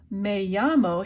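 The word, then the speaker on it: me llamo: makes it sound even more respectful and formal may-yammo here's the answer to this question may llamo let's let's say let's translate it I call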